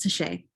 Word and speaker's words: Tashia: My name is pronounced Tashay. Tishay, okay, thanks.